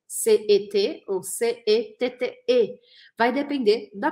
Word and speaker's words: ces: Se escreve C-E-S. Ou em português, C-E-S. E eu não vou falar esse S, eu vou falar C.